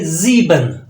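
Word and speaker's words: sieben: next आपके पास सेन again S जो है व जड की आवाज देगा आपको इसको पढ़ेंगे जी बन जी बन जीबन नेक्स्ट आपके पास नाइन आखत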